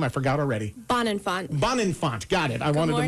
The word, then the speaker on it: Bonenfant: your last name I forgot already bond and bond Infante got it I wanted to meet you how